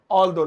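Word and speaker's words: although: तो जहां भी हम हिंदी में हालांकि बोलेंगे ऑलदो लगाएंगे। स्पेलिंग है ऑल दो। पता नहीं अजीब सी लेकिन बोलने में ऑलदो ऑलदो ऑलदो ऐसे बोलेंगे। जैसे हालांकि वह गरीब है लेकिन वो दान देता है भाई।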